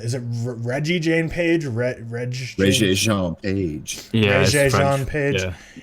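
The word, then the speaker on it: Regé-Jean Page: How do you pronounce it? Is it Reggie Jean Page? Reggie Jean Page.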